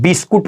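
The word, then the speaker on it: biscuit: guard पढ़ते हैं इसको अगला है देखिए यू के बाद जो आया है भावेल तो याद रखिएगा यू हमारा बिल्कुल साइलेंट हो जाएगा तो इसको क्या पढ़ते हैं बिस्कुट पढ़ते हैं याद रखिएगा अगला लेटर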